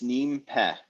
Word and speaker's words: nimpe: So it's 2 words, nimpe. So nim, it's cognate with the word mean in modern Egyptian Arabic. With ni in modern Egyptian Arabic? With mean, like M-I-N.